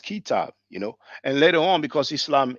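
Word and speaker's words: كتاب: So they will write k t b. You see, but they know it's pronounced kitab, And later on, because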